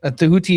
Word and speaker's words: Tahuti: Tahuti is the correct pronunciation of the name because Egyptian doesn't have um vowels. So you have to put the vowels in yourself.